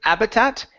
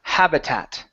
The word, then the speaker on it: habitat: on this word here make sure to pronounce the h instead of habitat it's ha habitat habitat okay very good